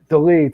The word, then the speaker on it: Dolidze: How do you pronounce his name? Dolidze.